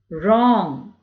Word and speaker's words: wrong: Wrong. WRONG is wrong. REST, rest. Rend, right, wrap. So did you notice WR is pronounced as R sound, okay?